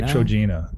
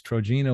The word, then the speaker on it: Trojena: How would you pronounce it? I'd say TROJENA.